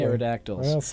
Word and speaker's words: pterodactyl: here think of pterodactyl because the p is silent oh my oh my